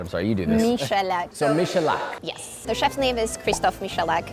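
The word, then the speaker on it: Michalak: I don't know how to pronounce that. I'm sorry, you do this. Michelak.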